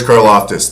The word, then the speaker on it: Karlaftis: George Karlaftis, the Greek freak.